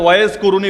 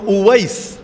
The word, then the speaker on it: উয়াইস: কারানীকে চেনে না কে বাংলায় হয়তো ওয়েজ কুরুনি বলেন আর কি আপনারা এটা ভুল উচ্চারণ ওয়াজ কুরুনি নামে কেউ নাই ওয়াজ মানে তো বক্তা ওয়াজ মানে বক্তা এখন উনার নাম কি বক্তা ছিল নাকি বক্তা কারো নাম হয় না উনার নাম হল উয়াইস উয়াইস আল কারানী কারান হল